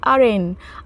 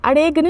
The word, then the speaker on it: arraign: Next one इज़ अरेन। अरेन, अरेगन नहीं इसको pronounce करना है, अरेन पढ़ेंगे, ARRAIGN।